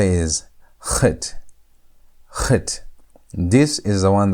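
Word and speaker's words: חית: And Chet is pronounced with almost like a CH sound, but it's not CH sound.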